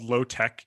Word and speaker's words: LO-TEK: And so the book is called Low Tech, and that's spelled LO-TEK.